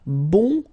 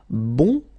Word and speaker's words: bon: So bon will become bun. Okay. So the sound is changing quite much because here you've got this nazal bon. Okay. And then bun. Okay. Bun. And then another example min will become minion.